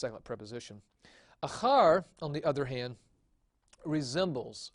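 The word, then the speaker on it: אַחַר: And so you can see achar is accented on the last syllable.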